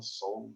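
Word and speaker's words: Sole: it soul to soul now soul s.o.l.e is the name of our company and soul sol is how you say sun in spanish so it's kind of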